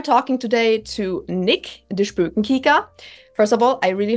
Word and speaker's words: Spoekenkyker: So I'm the Spökenkicker on most of my social media. You pronounced it perfectly, by the way.